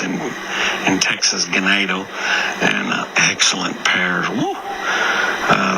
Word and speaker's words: Ganado: ganado Texas bar I always want to say ganado cuz it means uh cattle in Spanish but it's it's pronounced in in Texas gadoo and excellent pairs woo uh they brought a